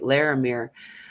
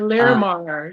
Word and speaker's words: Larimar: Laramir. Uh, Larimar, yeah.